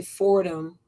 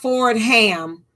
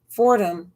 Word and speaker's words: Fordham: song ford it's not ford ham fordham law review f-o-r-d-h-a-m one word so it's like a ford car and a ham you eat okay so fordham one word law review fordham law review and i